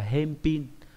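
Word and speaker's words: 返品: do vậy đọc là hem pin. Đấy, đấy là cái cách biến âm các bạn cần lưu ý.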